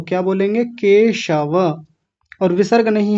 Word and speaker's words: केशव: और यहां कई लोगों का उच्चारण यह हो रहा था। केशव को केशव बोल रहे थे। स दंतीय सकार वाला स लगा रहे थे। तो क्या बोलेंगे? केशव।